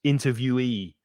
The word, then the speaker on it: interviewee: And also there's changing stress in the next 2 words, interviewer, stress the 1st syllable, interviewer, and interviewee. So the "ye" at the end is stressed, interviewee.